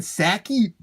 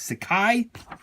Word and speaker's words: Sakai: you say it sit I always said stand Sachi but I believe it's Sakai this guy Stan Sakai